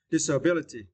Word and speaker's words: disability: and for this was you need to stress the third syllable B disability disability is me of physical